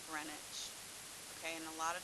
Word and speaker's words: Greenwich: runs through Greenwich England it's spelled green witch but you pronounce it grenwich okay and a lot